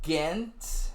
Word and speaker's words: Gent: All right, so I got second, then leaving first, Gent. I believe it's pronounced Ghent.